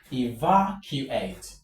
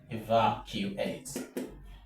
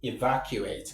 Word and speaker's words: evacuate: So the stroke goes on va evacuate. So we have something like this. Eva, evacuate. Right? So that is how you pronounce this word correctly. Evacuate not evacuate. Not evacuate. By saying evacuate the straight girls on the last syllable. And of course you know that is wrong.